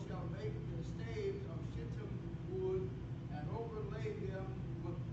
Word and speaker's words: shittim: The New King James, I looked up the pronunciation of that word. It's shittim wood.